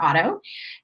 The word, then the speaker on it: Ottow: It's Ottow. Like I always told my students, it's Otto like automobile, but of course it's spelled differently.